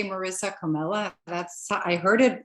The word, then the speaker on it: Comella: We have, oh my gosh, I always pronounce her name wrong, which is really bad, but I'm going to see if I get it right now. Marisa Comella. Yes, I didn't say Comello, which I said last time, Marisa, which I really apologize about.